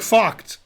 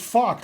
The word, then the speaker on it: Vogt: Vogel is pronounced with an F sound. Vogel? Yeah, it's like Vogt. Okay. Yeah, like VOGT. This is an East German grandmaster. Mm-hmm. It's pronounced Vogt, like that's how it's pronounced.